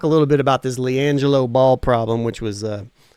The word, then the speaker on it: LiAngelo: LiAngelo Ball.